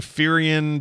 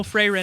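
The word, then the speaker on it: Frieren: I'm now watching Firion Beyond Journey's End. Oh, Freyrin.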